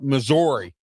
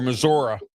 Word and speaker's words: Missouri: Chris McLellan, rated number 72, defensive lineman, 6'4" 323 from uh uh from uh Missouri or Missoura, however you want to pronounce it.